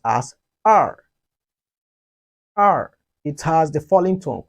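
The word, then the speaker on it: 二: remember the number e 2 in chinese is pronounced as r r it has the falling tongue which is the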